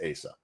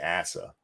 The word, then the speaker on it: Asa: Is it pronounced Asa or is that just snooty accent? No, that it's pronounced Asa. It should be Asa, but anyway.